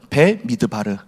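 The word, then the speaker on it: במדבר: 배미드바르.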